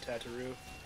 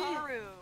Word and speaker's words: Tataru: I will try to bring them home, Tataru. Gosh, the King Slime Crown. You and your pronunciations drive me nuts. What? How are you else are you supposed to... Really? Tataru.